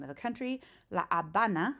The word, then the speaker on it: La Habana: La Habana, silent H, right? In English, you pronounce it Havana, but in Spanish, it's La Habana.